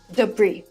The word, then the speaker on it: debris: a few weeks debris debris silent s debris refers to everything